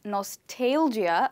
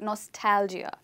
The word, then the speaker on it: nostalgia: I believe some of you may have heard it and you may be pronouncing it as nos-tail-gia but it's not pronounced like that you call it ‘nostalgia’.